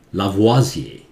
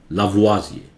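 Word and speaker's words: Lavoisier: Modern chemistry का father कहते हैं इसे, इसको उच्चारण करते हैं लावाजिए, फ्रेंच नेम है लावाजिए, उनका गर्दन काट दिया गया, ये कहानी शायद इसमें नहीं है लेकिन हो भी सकता है, ठीक है।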